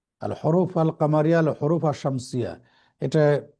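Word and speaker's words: القمر: এটা আপনার জি জি সহজভাবে আরেকটু মনে রাখার বুদ্ধি হলো আশামসু আল কমারু। আশামসুতে জি দেখেন জি লাম এখানে উচ্চারণ হচ্ছে না, সরাসরি আলিফ শিনকে যে ধরতেছে। আর আল কামারু লামটা কিন্তু এখানে উচ্চারিত হচ্ছে।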